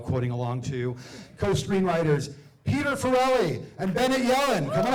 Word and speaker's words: Farrelly: I get a lot of Farleys, Farrellys, but Farrelly, like Sarah-lee.